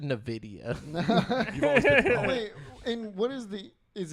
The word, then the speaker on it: Nvidia: real quick like we will do the video Nvidia is how do you pronounce it it's Nvidia yeah I've always said in a video and what is the is it even or